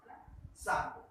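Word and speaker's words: Tsangpo: टी इसमें silent है, सांगपो।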